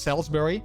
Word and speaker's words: Salisbury: It's pronounced Salisbury. Oh, okay, so not Salisbury, but Salisbury.